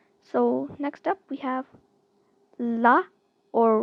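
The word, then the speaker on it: ㄹ: So next up we have la or ra. this is something which is a bit complicated to pronounce correctly. It's more like it's an L plus R sound.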